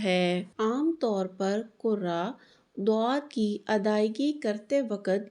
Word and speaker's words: ضاد: کی ادائیگی کرتے وقت یہ غلطی کرتے ہیں کہ اس کو زا، ذا، زوا یا موٹا کر کے دال کی طرح دواد یا زوا پڑھ جاتے ہیں، جو کہ صحیح نہیں۔ اس کا صحیح تلفظ ضاد ہے۔ اس میں ہوا کا